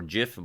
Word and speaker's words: GIF: in 1987 and it's I've read that the entire world is mispronouncing the word that it's actually supposed to be pronounced 2gf and it's really funny since even the Oxford English Dictionary says that you can pronounce it either gif or Jif but Steve says that you can't and he's the one who invented it and he gets to choose how you pronounce it but still the the entire